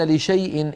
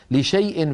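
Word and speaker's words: لشايء: لا منطوقا ولا تقولن لشيء اني فاعل ذلك غدا في سوره الكهف لشيء بين الشين واليائيه هناك الف مكتوبه تكتب ولا تنطق لا يصح حذفها من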